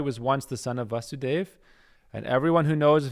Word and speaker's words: Vasudev: once the son of vasudev and everyone who knows of his previous births calls him vasudev so krishna's name is vasudev with a long a and his father is